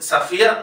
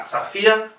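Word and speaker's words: Sofia: Y fíjense, la O en Safía no es la sílaba tónica, por lo tanto se pronuncia igualmente A. Safía Gubaidulina.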